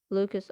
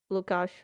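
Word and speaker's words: Łukasz: on a current competitor lucas oslido that's what people call him the proper way to say this is lukasz oslo but whatever lucas's hamstring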